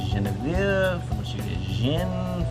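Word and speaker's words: genièvre: Well, what's even weirder is that in French, juniper is pronounced Genevieve, from which you get gin, from which we get gin.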